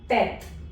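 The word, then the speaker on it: tête: So this word becomes tet, no t. So it is tet. The E at the end of the word is silent.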